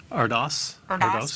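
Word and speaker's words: Erdős: How do you pronounce that, Paul Erdos? Erdos.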